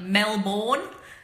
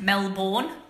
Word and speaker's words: Melbourne: two games wins overall Melvin Mel been like Mel board it's actually pronounced Mel born but we call it Mel beam LT m